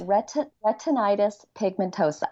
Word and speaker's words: retinitis pigmentosa: It's retinitis pigmentosa.